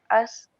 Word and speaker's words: ask: Tapi di ujungnya ada kol-kolah k-nya di belakang. Ask. Ask. Ada ke-nya gitu.